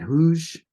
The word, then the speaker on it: Hooge: The Hooge, is that Hooge crater? Huge, yeah, Hooge yeah, huge crater.